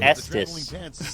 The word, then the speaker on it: Estes: Like suck these I don't pronounce rockets. it that way. It's Estes.